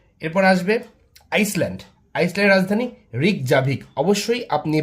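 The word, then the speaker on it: Reykjavik: আইসল্যান্ডের রাজধানী রিকজাভিক। অবশ্যই আপনি বানানটা মনে রাখবেন। আর ই ওয়াই কে জে এ ভি আই কে। রিকজাভিক।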